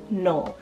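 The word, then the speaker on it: Nohl: For N, I have one name here, and that's the name Noel, spelled N-O-H-L, Noel.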